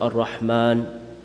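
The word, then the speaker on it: الرحمن: look at words like al rahman The Aleph is not present after the mimin ar-rahman in the Quran but it's read as al Rahman and the example of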